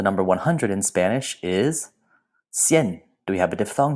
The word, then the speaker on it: cien: And last, the number 100 in Spanish is cien. Do we have a diphthong here? Yes, we do. That IE makes this a one-syllable word, cien. This is not cien, but cien. That diphthong blends those vowels together.